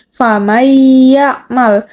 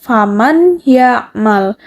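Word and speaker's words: فَمَن يَعْمَلْ: Famayyamal. Kan kalau tidak ada idgham bigunah harusnya dibacanya faman ya'mal. Tapi karena di sini ada hukum idgham bigunah, jadi dibacanya dimasukkan atau dileburkan. Jadi famay ya'mal.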